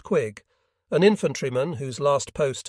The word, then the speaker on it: Quigg: my immediate boss was Enant Colonel Clayton Quigg, pronounced Quigg.